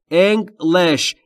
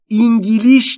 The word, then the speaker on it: English: تلفظ درستش English. انگلیش نیست. English.